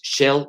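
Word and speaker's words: shale: lutita que se llama en inglés shell gas se escribe s h a l e gas incluso Les recomiendo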